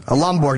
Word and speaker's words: Lomborg: Lomborg, not Borg.